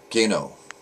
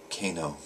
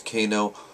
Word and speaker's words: Kano: another uh futhark daily Rune so today is Gano no Kano you know when I first started learning rooms